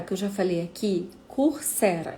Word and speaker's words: Coursera: O Coursera, que eu já falei aqui, Coursera, é do jeito que se pronuncia, né?